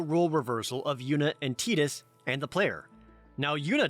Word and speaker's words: Tidus: now yunna doesn't know i pronounce it titus that is the canonical pronunciation now titus while titus